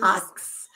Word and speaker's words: ask: English, Aboriginal English speakers metathesize K and S in the word ask, which is pronounced askers. Which is pronounced asks.